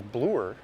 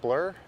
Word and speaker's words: Bloor: weird how people pronounce Bloor in Toronto oh absolutely nobody says Bluer sounds more like blur it's kind of like